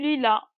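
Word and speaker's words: lit: T هنا لا تنطق. Il se prononce pas.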